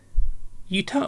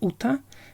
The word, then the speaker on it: Uta: The next One Piece card is Yuta, or Uta, as she should be pronounced in Japanese.